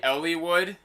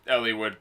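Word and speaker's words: Eliwood: life yeah okay so i know it's supposed to be ellywood they just commented the way you pronounce ellie wood uh bothers me but like why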